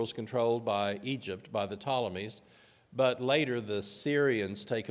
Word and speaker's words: Ptolemies: Egypt belonged to the ptolemies there's a silent P like pneumonia a p-t-o-l-e-m-y the ptolemies have Egypt